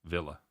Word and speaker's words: Villa: be staying Aston V Villa it's the English pronunciation I I like to say via it's a force of